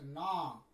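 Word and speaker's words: gnaw: G-N-A-W, here in this word, G is silent, it is pronounced as na, A-W is there, you write a tick dash.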